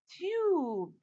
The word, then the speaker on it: tube: What's the name of this letter? U. So what does the word become? Tube.